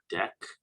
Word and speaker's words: deque: and the deck so tell you how we pronounce it in here pronounce deck okay like a deck of cards okay double ended q this